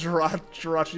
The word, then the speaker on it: Jirachi: Alternate Jirachi pronunciation. Jirachi, but the chi is pronounced Kai. Jirachi? Yeah, no. No, it's Jirachi.